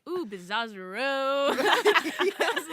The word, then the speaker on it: Bizzozero: He like asked me every day how to pronounce it, and then Aw. he's like, ooh, Bizzozero.